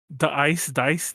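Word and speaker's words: Da-iCE: Dice. It's pronounced Dice, but the name looks like the Ice.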